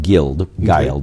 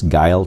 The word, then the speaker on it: Guile: Looks like it's pronounced Guild, but it's Guiled children.